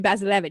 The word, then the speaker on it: Bazilevych: Like, no, it's going to be Bazilevych. So it's like Basil, but with a Z, and then Evych.